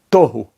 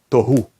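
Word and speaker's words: תֹהוּ: Uma vez que esta palavra é paroxítona, nós temos em cima dela duas vezes o pastá, para indicar que a sílaba tônica é no início, é paroxítona. E por isso ela é lida tohu e não tohu.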